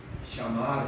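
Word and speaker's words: שמר: 물론 한글로 쓰는 게 아니라 시옷, 미음, 리을 이렇게 써놓고 이 사람들이 뭐라고 읽냐면 샤마르 이렇게 읽어요.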